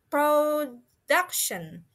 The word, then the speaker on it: production: The second one is production. Production. Production. Yeah, the stress or the emphasis fallen or happen in the middle of the word, in the DU atau D sama U syllable.